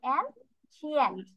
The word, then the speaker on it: ancient: সি না, এটার উচ্চারণ শ হবে। অ্যানশিয়েন্ট।